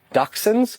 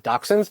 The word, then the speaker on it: Dachshunds: I've seen so many, you're going to butcher the name of the breed. Dachshunds. Ha! Got it right that time. Dachshunds.